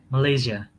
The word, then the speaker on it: Malaysia: word what's the name of your country again malaysia very good it's as sounds like a little